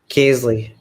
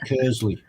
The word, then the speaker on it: Kearsley: I was calling him Kersley. So Kearsley, right, as it's spelled. Yeah, because it's got an ear in it, so you say Keir.